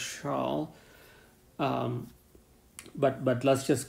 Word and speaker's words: Chasles: to that is called chalice or shawl in French I think I'm not exactly sure how to pronounce this French name but I think it's pronounced shawl but but let's just